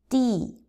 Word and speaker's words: 地: So let's do the pronunciation of the characters again. First one, tian, tian, tian. Second one, di, di, di.